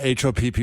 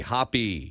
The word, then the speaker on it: Hoppe: Not Hoppy. A lot of people will say Hoppy. That's incorrect. Right. It's pronounced as if you saw the word spelled that way, but it's with an E. Hoppe.